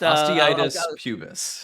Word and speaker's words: osteitis pubis: So how do you pronounce? Well, first, Osteitis pubis is the okay, answer.